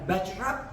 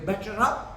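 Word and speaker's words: butter up: ഇ ആർ ബട്ടർ അപ്പ് ഓർമ്മിക്കുക ഇട്ട വരുന്നിടത്തൊക്കെ ഇറ്റായാണ് ബട്ടർ അപ്പ് ഇതാണ് അവരുടെ ആക്സെന്റ് ബട്ടർ അപ്പ് പക്ഷെ തൽക്കാലം നിങ്ങൾ ബട്ടർ അപ്പ് എന്നും പറഞ്ഞു പഠിക്കുക അതാണ് നിങ്ങൾക്ക് ബട്ടർ പറഞ്ഞതാണ്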